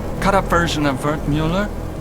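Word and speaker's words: Müller: up version of Burt Mueller it's German from my father he said to always insist on the umlauts otherwise people butcher the pronunciation so often butchered it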